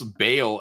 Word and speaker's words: Bale: Maybe Christian Bell should have bailed her out. Ah! Good one. It's not as good when you pronounce Bale as Bell.